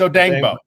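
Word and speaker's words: Odeyingbo: It's Odengbo. Nice. I knew I'd get it. Yeah, you added another syllable.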